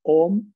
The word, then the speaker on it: Om: La primera es una activación sencilla con el OM, al que llamamos el Pranava Mantra. Simplemente pronunciarlo conscientemente, dándole predominancia a la M.